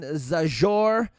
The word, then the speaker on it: Zajur: And ladies and gentlemen, if you want to reach Austin, go to @Austin Zajur. That's how you pronounce it, but it's Zajur.